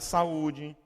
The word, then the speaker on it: saúde: Se eu não puser acento aqui, ó, daria saúde. Aí eu ponho um acento, você tem que pronunciar saúde. Aqui, ó, abaçaí.